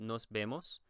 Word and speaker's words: nos vemos: The E in Spanish is actually pronounced more like the, I guess you would say the E in bed. So it's nos vemos, vemos.